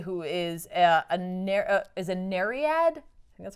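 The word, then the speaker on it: Nereid: this is zoey who is a as a nariad that's how you pronounce it she's the youngest daughter of nerius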